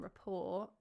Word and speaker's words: rapport: Okay, so Ballet, Debut, Tarot, and Rapport all have a silent T at the end.